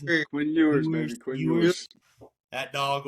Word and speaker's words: Quinn Ewers: How do you pronounce it? Quinn Ewers, baby.